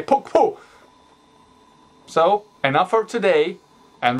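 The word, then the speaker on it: puqpu': You just have to speak the hard Q, puk, and have the little whisper behind it, puk, and then the P, puk-pu.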